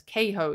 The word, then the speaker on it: Cahoe: So Daniel, they actually say Cahoe. I would almost say Cahoe, but it's Cahoe is how you pronounce his name, I've heard. January 12th of 2012. Daniel Cahoe was born on April